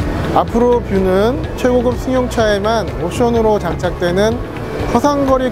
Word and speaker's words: 아프로뷰: 옆이 아니라 앞을 본다는 뜻이에요. 앞뷰 안 돼요? 앞으로 뷰? 앞으로 뷰라고 해주셔야 됩니다.